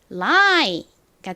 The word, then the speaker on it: lie: 이렇게 알파벳이 3개밖에 없는 짧은 영어 단어의 끝에 IE가 쓰이면 IE는 I 소리가 나니까 lie가 되겠죠?